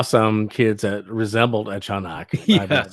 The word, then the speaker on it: Tiyanak: Yeah, so the pronunciation is actually Chanak.